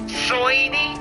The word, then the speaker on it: Soiny: Soiny? Yeah, Soiny. They're soy. Soiny. That is a word. Put that in the dictionary right now. And how you pronounce it is an S-O-Y-N-I. Soiny. Yep.